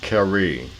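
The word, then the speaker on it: Carew: oh yeah his black character's name is actually pronounced kerry you know british english and all that and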